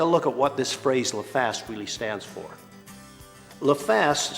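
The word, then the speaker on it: LFAST: That's pronounced la fast. It stands for L-F-A-S-T.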